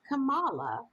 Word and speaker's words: Kamala: even for our critics it's not kamala it's kamala actually and mike wolf just